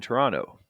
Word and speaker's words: Toronto: Actually, the T in Toronto should be read too. So it's 20 degrees in Toronto.